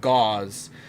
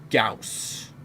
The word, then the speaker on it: Gauss: it's actually properly pronounced i pronounce it gauze where i think it's actually pronounced gauss not sure but magnetic